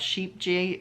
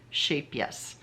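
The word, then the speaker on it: Scheepjes: which some people pronounce sheep j sheep g's but it's actually yoga um it's a it's a dutch yarn and she told me it's pronounced shape yes because the j's are pronounced like y's so anyway they those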